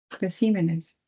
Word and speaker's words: especímenes: Si pluralizo esta palabra espécimen, ¿cómo pluralizaré? Especímenes. Especímenes. Muy bien. La ubicación del acento pasa a la ce.